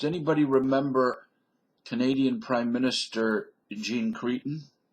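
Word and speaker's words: Jean Chrétien: remember Canadian Prime Minister Jean Creon I think the French pronunciation is J but I always called him Jean cron anyways Jean cron had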